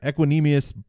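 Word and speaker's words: Equanimeous: Equanimous? Yeah, Equanimous St.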